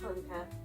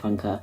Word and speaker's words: Funke: Never known how to pronounce her surname and I feel awful. Funker. Cornelia Funker. Okay, the next one is Reckless by Cornelia Funka.